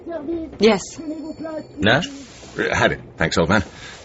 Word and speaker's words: Nash: Norman Nash. N-A-S-H? Yes. You know what that means in Russian? Nash means ours.